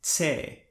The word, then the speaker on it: Ch: In Chamorro, it is pronounced more like Tse, like in the beginning of the word tsar, or at the end of the word flirts.